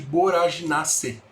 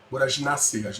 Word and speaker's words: Boraginaceae: Essa família do Acheflan, da Varronia curaçávica, é chamada de Boraginaceae. Boraginaceae. Nós não pronunciamos o AE final, isso é importante.